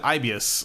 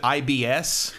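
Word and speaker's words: Aibius: Also, the name of the company is Ibius, and you're supposed to pronounce it Ibius like that, but some of the voice actors pronounce it IBS.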